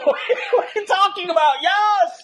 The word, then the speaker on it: Jos: Yas. Yas Verstappen, not Josh.